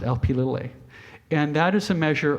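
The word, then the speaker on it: Lp(a): a closed parenthesis uh so you pronounce it LP a and that is a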